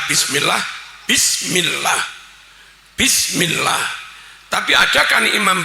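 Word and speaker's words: بسم الله: Ba kasrah bi tambah sinin mati bis. Harusnya imam baca bismillah.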